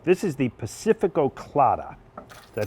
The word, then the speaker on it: Pacifico Clara: This is the Pacifico Clara. Did I pronounce that right?